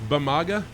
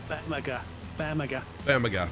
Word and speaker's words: Bamaga: Sparky, it is Bamaga, right there. Bamaga.